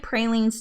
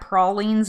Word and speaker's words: pralines: so i used to say it pralines too and i got corrected when i ordered at a cajun restaurant here from people who are from new orleans so i am assuming that prolines is how they say it because that's what they corrected me too i used to say pralines also so but i got corrected it was embarrassing and i don't like